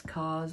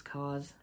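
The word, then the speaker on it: KAWS: And this is Hobie out and about because he likes Cause. I think he was, that's what his mask is, it's Cause.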